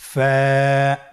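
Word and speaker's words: ف: ফা হরফটি আপনারা স্ক্রিনে দেখতে পাচ্ছেন ফা হরফটি উচ্চারণের ক্ষেত্রে বারিক হবে এবং এক আলিফ টেনে পড়তে হবে আপনারা আমার সাথে আবার বলুন ফা স্ক্রিনে দেখতে পাচ্ছেন ফায়ের মাখরাজ ফা এর মাখরাজ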